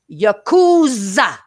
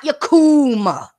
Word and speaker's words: Yakuza: Once again, if you hear this, it's Yakuza, not Yakuma, dumbass.